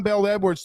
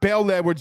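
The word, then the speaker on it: Bel Edwards: He says, do we remember John Bell Edwards threatening LSU football? Stop. And it's not Bell Edwards, Bell. It's Bell Edwards.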